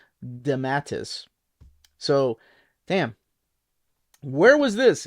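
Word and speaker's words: DeMatteis: went back because I I've been saying de matteus for so long but it's actually damatus so damn where was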